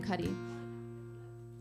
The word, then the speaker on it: Cuddy: And I realized that Jim Cuddy, the name, rhymes with slutty.